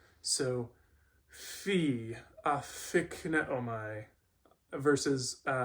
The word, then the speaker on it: phi: So this makes closest to what is the English F sound, fee.